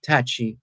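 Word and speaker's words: Tacky: Small reminder, this week marks beginning of the 1760 Easter Rebellion, also called Taki's War. And some people say it's pronounced Tachi as well.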